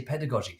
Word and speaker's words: pedagogy: How to say pedagogy, soft G.